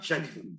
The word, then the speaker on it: Schengen: Schengen. La zona Schengen es déjenme buscar si está bien pronunciado, para evitar alguna cosa aquí en cámara, como tú hacemos el arreglo, ¿no? Zona Schengen. Zona Schengen, sí.